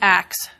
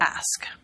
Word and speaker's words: ask: And yet, there are pronunciations today that many people feel very justified in judging, and perhaps at the top of that list is axe for ask.